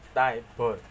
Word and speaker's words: tabor: Snare drum merupakan turunan dari tabor, diucapkan Taibor, yang ditemukan di Eropa pada abad pertengahan sekitar tahun 1300.